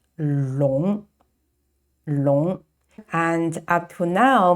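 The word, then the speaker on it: 龙: are the legs and the scales and it's pronounced long long and up to now maybe you will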